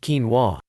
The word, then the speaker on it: quinoa: very nutritious quinoa is a grain crop that is grown for its edible seeds it's pronounced quinoa it technically isn't a cereal grain but a